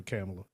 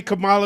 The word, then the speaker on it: Kamala: I'm not voting for camela Cala got I say Cala Harris I say Kamala is the way to pronounce it if she wants my